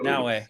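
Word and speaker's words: Naoe: So it said play as Yasuke or play as, is it Naue? I don't know how to say it, but N-A. That's right, Naue.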